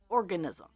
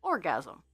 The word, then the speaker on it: organism: the teacher teacher very gently goes Sarah it's pronounced organism now i' had been saying orgasm while reading this every time and everybody so